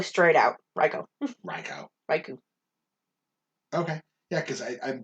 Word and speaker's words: Raikou: of the ones where someone pointed out how i was saying it wrong and i fixed it because it was suicune and raiku and entei yeah yeah and yeah sorry i just stole all these those are all correct um but somebody was like no it's it's raikou sweet raico